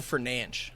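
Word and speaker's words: Fernandes: a score and then Bruno fernance is that how you pronounce it Bruno for nanch that's how the BR pronounce it yes I don't know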